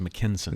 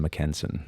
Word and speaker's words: Mackensen: And the last name is spelled Mackensen, Mackensen. It's just you're pronouncing it wrong. It's Mackensen. It's how you pronounce that.